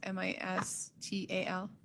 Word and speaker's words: Mistal: Misdale's going first. And I'm sorry, Mr. Mistal, am I saying that right? Misdale, I think it's pronounced Mistal.